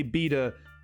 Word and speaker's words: beta: And it is pronounced beta because that's the way I was raised saying it, and I'm not the only one. And if you say beta, that's fine.